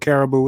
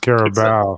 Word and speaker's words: Carabao: the car carlink because i don't know what caribou is it's an animal right uh uh sure